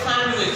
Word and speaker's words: sandwich: Same pronunciation of both words. After that adjust. Adjust. Adjust. These again silent. Yes, sir. Here sandwich. Sandwich.